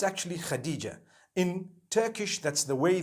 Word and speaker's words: Hatice: In Turkish, some people spell it HATICE. I would say Hatis for that. No, it's actually Khadija.